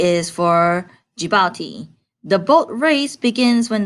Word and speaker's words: Djibouti: It seems to be a country, but we pronounce it as Djibouti because D is a silent D.